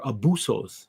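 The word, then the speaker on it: ἄβυσσος: This word deep here translates as abyssos, or abussos, they would pronounce it, right?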